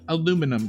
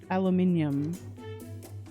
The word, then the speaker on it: aluminum: saying again aluminum that's how you say it aluminum yep aluminium aluminium that just really though a lot of